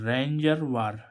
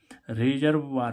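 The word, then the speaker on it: reservoir: रिजर्व रिजर्वा रिजर्व sorry रिजर्व बर होगा रिजर्व बर रिजर्व रिजर्व मींस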